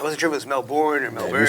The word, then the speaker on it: Melbourne: So we flew together from Sydney back to Melbourne. But I like how you say it, Melbourne. if you've been to Australia, you say Melbourne the way everyone else says Melbourne. It's not Melbourne, it's Melbourne.